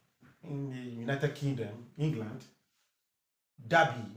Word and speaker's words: Derby: Derby, not Derby. It's Derby. Derby. Derby. I say Derby. Derby is a long R.